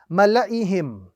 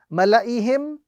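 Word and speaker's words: مَلَإِيهِمْ: So the correct pronunciation of this particular word is Mala'ihim. The correct pronunciation is Mala'ihim, without any form of pronunciation of the alif at all, because of this, the circle appearing on top.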